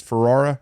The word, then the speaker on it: Ferrara: As mayor of Knox City, we bought a couple of fire trucks off of Ferrara Fire Department. Am I saying it correctly? It's Ferrara.